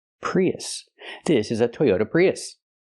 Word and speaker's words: Prius: even a Toyota prios it's not pronounced prios prios Toyota prios it's pronounced Toyota Prius use the short uh sound like cup and up us us not o but us relax us Prius we have two vowels we have the e sound like green beans plus